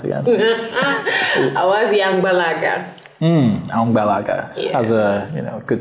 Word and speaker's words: Awazi: How is it pronounced again? AWAZI Angbalaga.